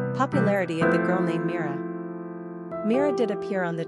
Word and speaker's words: Mira: Number of syllables, 2. Ranking popularity, 665. Pronunciation, Meera.